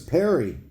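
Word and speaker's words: Perrye: and last name well my last name is Perry p e r r y e and the E is silent perfect okay and what's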